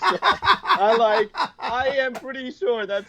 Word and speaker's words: Hsiang: get confused, because they look at my name and they're like, really, that's just pronounced Sean? Yeah. I literally had a lady ask me, are you sure that's pronounced Sean?